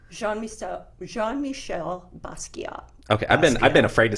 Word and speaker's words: Jean-Michel Basquiat: Jean-Michel Basquiat.